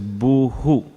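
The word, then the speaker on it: भूः: ground generally in samskritam when you have a word ending with a with a dot in the bottom it reverberates the previous letter so in this case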